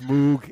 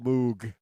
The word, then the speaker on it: Moog: That was Bob Moog himself. He said but he said in English speaking countries they call it that.